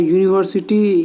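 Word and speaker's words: university: बॉय में ब है, यूनिवर्सिटी यू से स्टार्ट होता है पर इसका उच्चारण या से होता है, और यह एक व्यंजन वर्ण है।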